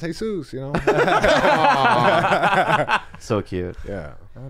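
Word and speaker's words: Jesús: And I was just like, it's pronounced Jesus, you know?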